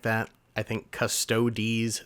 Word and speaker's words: Custodes: In the grand scheme of things, whether you say Custodes or the correct version, Custodes, who really cares? If the way someone pronounces something takes away your enjoyment of that thing, I think you have bigger problems.